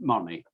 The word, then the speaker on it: Monzy: It's spelt Monzy, but it's pronounced Monny.